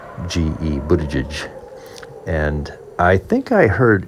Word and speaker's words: Buttigieg: sounds to me like Buttigieg, and that the last syllable is more like Jidge, Buttigieg.